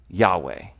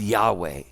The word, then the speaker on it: Yahweh: they stopped saying it so we don't know how to pronounce what it is that he said because they stopped saying it and all they wrote down was the uh was the the the consonants all they wrote down was the consonants and they didn't speak the name so all we have is four consonant letters now most of the time we pronounce that Yahweh he says I will